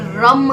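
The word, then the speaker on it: रं: तो इसका एक बीज मंत्र है जिसे हम बोलते हैं रम। रम र उसके ऊपर बिंदी यह राम नहीं है। यह रम है जिसका उच्चारण होता है रम।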